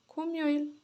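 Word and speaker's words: 금요일: शुक्रबार अब शुक्रबारलाई हामी के भन्छौ शुक्रबारलाई भन्छौ खुमयोइल खुम यो इल खुमयोल अब उच्चारण पनि लेख्दिन्छु।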